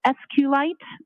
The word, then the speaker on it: SQLite: cave i t and sqlite uh is also commonly pronounced as SQ light so both pronunciations what was J CES